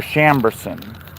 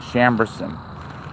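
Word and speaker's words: Chambourcin: These are Chambers, spelled with a C. C H A M B O U R C I N Chambers and they are noted back to I think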